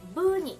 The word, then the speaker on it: 不足: "医師" (ishi) means doctor, and "不足" (fusoku) means a shortage The correct pronunciation of '医師不足' is 'busoku,' not 'fusoku.